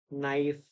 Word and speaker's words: knife: g silent venine venine design meline here H is silent honary honorarium K silent knife no knuckle L Al alms you used to